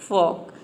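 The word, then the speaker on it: folk: जनता या फिर लोग यहां पे देखिए फॉक फोल्क इसको प्रोनाउंस नहीं करते हैं इसको प्रोनाउंस करते हैं फॉक इसका एक और मीनिंग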